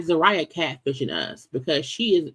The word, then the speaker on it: Zeruiah: who did not want Sarah her name was actually pronounced Zaria I'm a maybe her